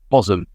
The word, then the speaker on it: Bosham: And thank you, Claire, for pointing out my, and indeed Simon, and indeed probably many other people that I've hilariously mispronounced, Bosham, as I shall now pronounce it.